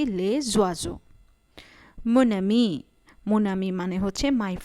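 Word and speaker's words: les oiseaux: লে ওয়াজো, লে ওয়াজোকে আমরা একসাথে উচ্চারণ করছি লে জোয়াজো।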